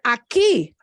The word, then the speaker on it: aquí: Even aquí. Yeah, it's not pronounced aquí. That ends in a vowel. We don't say that word aquí, aquí, aquí, aquí.